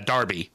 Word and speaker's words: derby: the time where uh Darby a Darby spelled like a derby but pronounced Darby is a rivalry in